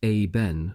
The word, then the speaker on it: Iben: What I do know is that I was assigned to Ghard Iben, pronounced a Ben, of Carl, a hamlet something like 4 km northwest of Hoenkirken, and within sight of the North Sea Dyke.